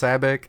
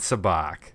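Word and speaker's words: sabacc: the scene of some sabbaq sabbaq cards right it's very funny that you say that because it is pronounced SABIC and SABIC in the movie like they do they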